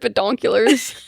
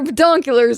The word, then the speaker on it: binoculars: It sounded like you said binoonculars. Bedonulars. Got to put our binoculars on.